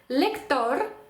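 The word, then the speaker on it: lector: запам'ятали це друге правило якщо наше слово закінчується на будь-яку іншу приголосну тобто будь-який інший випадок то тоді в нас наголос падає на увага останній склад давайте подивимось приклади лектор лектор е Лектор так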